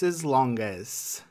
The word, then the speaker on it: extensor hallucis longus: Next up, the .